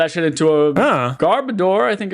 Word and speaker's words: Garbodor: Um, well, it's supposed to be It's garbage odor. So, it's actually meant to be pronounced garboder, but Garbodor is fine.